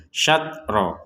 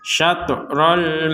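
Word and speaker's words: شطر: juga harus dipantul dipantulkan jadi sekedar pantulan jangan sampai berlebihan atau kurang n kalau kurang atau tidak Tidak ada pantulan sama sekali kan akan terbacanya satro satro itu kan Tidak ada pantulan maka ini ada pantulannya satrol Masjidil Haram di sini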